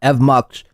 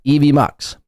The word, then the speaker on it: EVMox: Again, it's called EVMox. Not Evox, not Eve Muk. Not Eva Mox. It's Eevee Mox, Chad, and I guess apparently Carmick.